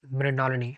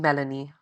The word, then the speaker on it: Mrinalini: Mrinalini. That's how you pronounce it, right?